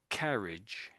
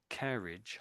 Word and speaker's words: carriage: So I'll say them again: carriage and courage. So it's this vowel sound in here, isn't it? Really, just before the R.